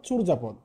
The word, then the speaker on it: চর্যাপদ: গেল ঠিক আছে একই ভাবে আমরা পড়তে পারি চর্যাপদ চূরজাপদ ঠিক আছে আমরা একটু আগে কি বলেছিলাম যে